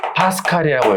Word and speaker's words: 파스칼: 이거 말고 이걸 한 번에 퉁쳐서 뭐라 그러냐면 PA라고 쓰고요. 읽을 때는 파스칼이라고 읽어요.